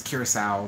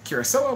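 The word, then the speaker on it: Curacoa: a and a cruiser a lot of people are going to say alex you're pronouncing it wrong it's curacao but uh like i said in my recent video the kirasoa was named after the island off the coast of queensland australia not the dutch caribbean island of curacao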